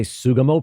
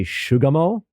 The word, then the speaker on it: Sugamo: It's funny because sometimes it did in other versions, but because I think Sugamo, S-U-G-A, looks like the beginning of sugar, so a lot of the AI voices would say Shugamo.